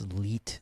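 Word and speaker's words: leet: How would you pronounce that? L337 speak. It's Leit speak. Okay. L E T.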